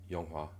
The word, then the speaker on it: 영화: Et on dit Yonghua, Yonghua.